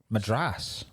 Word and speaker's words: Madras: just I can't eat madress by the way cuz madra in Ireland means dog. All right. So how do you say it? Madress. Madras. Sorry Irish mad.